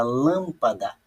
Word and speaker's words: lâmpada: Olha aqui, ó, na palavra lâmpada. Veja que não é a última. A sílaba tônica não é a última, nem a penúltima. é a antepenúltima.